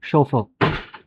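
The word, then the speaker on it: chauffeur: इसकी जो प्रोनाउंसिएशन है दैट इज़ शोफर। आपको लग रहा होगा यहाँ पर चोफर लिखा हुआ है, बट एक्चुअल में दिस इज़ कॉल्ड शोफर।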